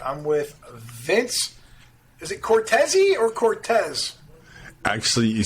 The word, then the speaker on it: Cortese: he was pronounced so instead of Cortese which is more the Italian's pronunciation he says Cortez which um kind of